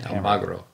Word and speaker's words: Almagro: Almagro.